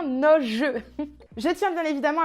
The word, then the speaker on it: Noje: J'ai le petit fascicule là avec vraiment tout sur la marque et il y a bien précisé Noj Beauty. Donc je me suis trompée, ça se prononce bien Noj.